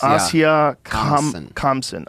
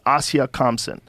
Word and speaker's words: Asia Kamsen: Asia Kamsen. Asia Kamsen.